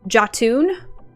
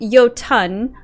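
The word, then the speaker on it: Jotun: drove me nuts uh james marsters pronounced that word that you just spelled pope as um jatun and i almost had an aneurysm because it is very clearly yotan i looked it up i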